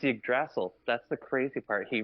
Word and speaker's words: Yggdrasil: No, Major, you obviously watch Screen Rant because he pronounces it incorrectly as well on Screen Rant. I love Ryan Airy, but it's Yggdrasil.